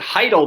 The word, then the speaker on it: Chytil: All right, we're going to take the New York Rangers, the young guy, Philip Chytil. There you go. Yeah, Philip, I believe they pronounce it Heidel, but yeah, Philip Chytil, yeah.